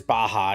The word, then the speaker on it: Baja: It is Baja, yes.